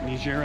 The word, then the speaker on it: Niger: Niger Africa. Niger Africa. They say Niger to differentiate from Nigeria, the hard G.